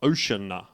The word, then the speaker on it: Oceana: It's like Ocean with an A at the end. Ocean A is his name. So Oceania without the I.